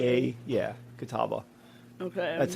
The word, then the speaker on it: Catawba: Oh, it is Kataba. All right. Good job, Stan. Stan knows how to pronounce stuff. Oh, this pronunciation has 35 uh karma. So, everybody hated this one. Oh. There we go. Not kawaba.